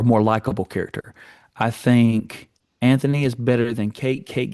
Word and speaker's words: Anthony: His name is Anthony. Yeah, it has a H, but they don't say it.